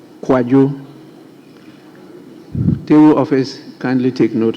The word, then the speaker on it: Kwadwo: His Kojo is spelled KWADWO, not KOJO. Thank you, Right Honourable Speaker. So his is Kwajo. Kwajo.